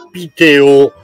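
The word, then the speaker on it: Piteå: Ma allora, ho cercato di mettere a fuoco la località, si chiama Piteo, più o meno si pronuncia così, si scrive Pitea, un po' come l'Ikea.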